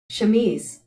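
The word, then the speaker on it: chemise: Pronunciation pronuniation. Shmese.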